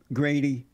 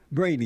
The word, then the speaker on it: Brady: about a black conservative Grady Brady Brady yes brainy oh they have a G here for some reason its Brady not okay yeah they spelled your name wrong um how do you